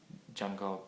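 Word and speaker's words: Django: or two fingers um Jango Reinhard being one of them which is spelled um d j a n g o Jango Reinhard look him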